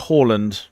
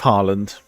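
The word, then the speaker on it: Haaland: Don't you lot pronounce it like Holland or something like that?" I'm like, "No, it doesn't sound right to me."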